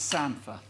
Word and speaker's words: samphire: But now then, this is what I like talking about, and you, being from up north, always pronounce it wrong, because this is samphire.